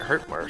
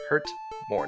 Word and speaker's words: Hurtmore: But we do finally get that all-important Hurt-More spell. I always do a terrible job of pronouncing that. Hurt more, not Hurt-More.